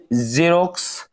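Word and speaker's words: xerox: নম্বর রস দেখতে পাচ্ছি এক্স যদি কোন শব্দের শুরুতে থাকে তাহলে জ উচ্চারণ করতে হবে যেমন এখানে দেখেন জেরক্স জেনন জিবেক জাইলোগ্রাফ জাইলেম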